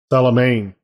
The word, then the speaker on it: Salamane: Salamane, like lion mane. So M-E is Maine? Yeah, I guess. Wow. Okay. I know. That's the way they say it. Salamane.